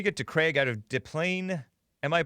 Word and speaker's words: Des Plaines: Let me get to Craig out of Des Plaines. Am I pronouncing it right? Des Plaines, Illinois? Des Plaines, Illinois.